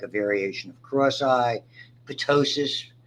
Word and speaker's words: ptosis: Ptosis, typically we pronounce the T, though it should be silent, is that upper droop of an eyelid.